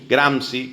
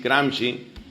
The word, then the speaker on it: Gramsci: Luego, a través de un pensador, ideólogo y politólogo italiano llamado Antonio Gramsci, se escribe Gramsci, Gramsci.